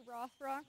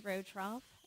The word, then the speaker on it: Rothrock: I think I said it wrong. Good evening. Good evening, everyone. My name is Julie Rotroff.